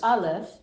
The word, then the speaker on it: Aleph: Do you know that Aleph it's like avocado? Yeah, but it's a silent letter. Yeah. But it's like A in English. Yeah, but it's silent. That's the part that makes it's. What do you mean it's silent? Aleph doesn't have a sound to itself.